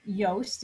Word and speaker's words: Yoast: So this is Yoast, is a commonly used WordPress plugin for SEO. Rhymes with toast.